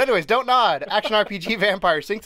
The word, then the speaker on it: Vampyr: Now, do you pronounce that Vampyr or Vampyr? Vampyr. You just go for the straight Vampyr. It's not pure, it's pyre.